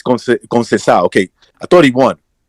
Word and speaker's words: Conceição: Because I'm pronouncing it, like, by the letter, right? Yeah, like, every fucking... But it's Conceição.